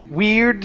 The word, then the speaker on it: weird: sister weird sister okay make sure to pronounce the d weird weird sister weird sister okay